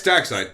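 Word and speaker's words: Darkseid: However, it's it's dark side, but it's spelled dark seed.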